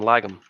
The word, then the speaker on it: Lagum: Yeah, that's his name, Lagum. Okay. I just wasn't sure if it was like Lagm. Lagum? I mean, it could be Lagm, but could be.